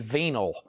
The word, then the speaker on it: vinyl: So the grade I tell you is the grade of the venyl. Okay, that's another way to pronounce vinyl.